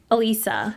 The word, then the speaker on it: Alyssa: Elisa. Elisa. Okay. It's spelled Alyssa though. It's spelled Alyssa, but it's Elisa.